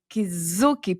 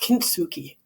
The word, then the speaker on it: kintsugi: Let's go back to the topic of belonging and Kizuki pottery. I don't know if that's how you pronounce it. It's kind of not, it's a Japanese word. I think it's pronounced kintsugi.